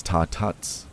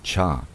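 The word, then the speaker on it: Tatuts: It was Ta-Tuts, not Cha.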